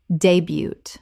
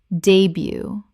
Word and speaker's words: debut: K W I R choir Word 128, debut Common mispronunciation, debut Correct pronunciation, debut Two syllables, and the T at the end is completely silent.